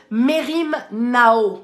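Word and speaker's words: μεριμνάω: C'est la racine Merim Nao. Merim Nao. Ça s'écrit comme ça se prononce. M-E-R-I-M. N-A-O, Merim Nao, ça veut dire ne prends pas soin de quelque chose qui t'emmène dans le souci.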